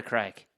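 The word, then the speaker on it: craic: Melly just said, would you not get wasted on air for the crack? And crack is spelled C-R-A-I-C.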